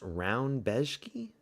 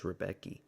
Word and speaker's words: Rebecki: His name is pronounced round beski. That's weird. I thought it was Rebecki. Rebeeski, not Round Beski.